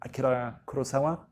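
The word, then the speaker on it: 黒澤明: if you are familiar with the works of Akira Kurosawa (or in the Japanese pronunciation, closer to Akira Kurosawa on something like that).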